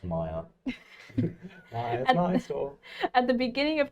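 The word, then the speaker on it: Myr: It's pronounced Maya.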